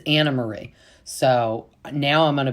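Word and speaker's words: Annemarie: And we have now come to find out her name is not pronounced Anne Marie, even though it is spelled with an E. Sorry. It's Anna Marie.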